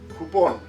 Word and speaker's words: cupón: When the letter C is in front of the vowel U, also sounds like the English K. Cu, cu, cupón, coupon.